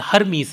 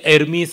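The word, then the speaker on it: Hermes: ರೋಮನ್ರಲ್ಲಿ ಅವನನ್ನು ಮರ್ಕ್ಯುರಿ ಅಂತ ಕರೀತಾರೆ, ಗ್ರೀಕರಲ್ಲಿ ಅವನನ್ನು ಹರ್ಮೀಸ್ ಅಂತ ಕರೀತಾರೆ. ಅಪ್ಪಟ ಗ್ರೀಕ್ ಉಚ್ಚಾರಣೆಯಲ್ಲಿ ಎರ್ಮೀಸ್ ಅಂತ ಹೇಳ್ತಾರೆ. ಗ್ರೀಕ್ ಭಾಷೆಯಲ್ಲಿ ಹಕಾರ ಇಲ್ಲ, ಯಕಾರ ಅಕಾರಗಳನ್ನೇ ಬಳಸ್ತಕ್ಕಂಥದ್ದಾಗತ್ತೆ. ಈಟ ಅಂತಂತ ಏನಿದೆ ಅದನ್ನೇ ಹಕಾರಕ್ಕೂ ಬಳಸ್ಕೊಳ್ತಾರೆ.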